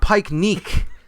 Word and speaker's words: picnic: Well, first of all, it's not picnic. It's that's a mispronunciation there. It's pike neek, actually. That's how you're supposed to say it. It has a hard neek at the end.